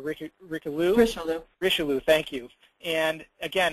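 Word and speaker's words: Richelieu: the L man or uh R Rico risho risho thank you and again it's a a seven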